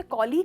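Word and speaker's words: colleague: आप इसे कॉलीग कहते हो और कलीग कहते हो। जनरली इसे कलीग कहते हैं पर इसका सही प्रोनाउंसिएशन है कॉलीग।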